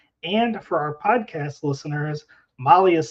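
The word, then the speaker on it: MAHLE: And for our podcast listeners, Molly is spelled M-A-H-L-E.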